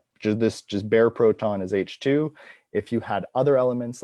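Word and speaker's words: H II: of the milky way it's h-i-i which is pronounced h2 the ii is for the ionization state of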